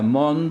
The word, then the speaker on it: মন্দ: মন্দটা তৎসম সংস্কৃত শব্দ, মানে ধীরে ধীরে এই অর্থে, যেখানে সেখানে মন্দ, আর মন্দ মানে খারাপ বাংলা শব্দ, সেইটা উচ্চারণে বানান একই, কিন্তু উচ্চারণে পার্থক্য হবে, অর্থ অনুযায়ী হবে।